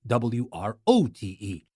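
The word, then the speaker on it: wrought: You know that write, W-R-I-T-E, in the past it becomes wrote, W-R-O-T-E. But this wrote, although it is pronounced the same way, it is spelled differently, and the meaning obviously is so different.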